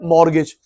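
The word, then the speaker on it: mortgage: के मिल गया कम मॉर्गेज यहां लिखियो मॉर्गेज एम ओ आर आर टी जी ए जी ई टी साइलेंट होता है।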